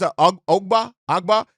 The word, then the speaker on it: Ogbah: And, I don't know how much I believe this, but Emanuel Ogbah, I believe it's Ogbah is how you say his name.